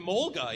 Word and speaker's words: Emolga: I've only played a few games, but it's Emolga? Is that how you say it? Emolga, yeah.